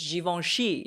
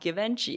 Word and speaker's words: Givenchy: a mez not Hermes it's Javon she not Givenchy it's Versace not inverse